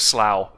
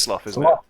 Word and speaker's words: slough: that as a verb i'm gonna go with slow i like the place it's slowing that sounds wrong i need to google this one second it is sloth okay slothing kind of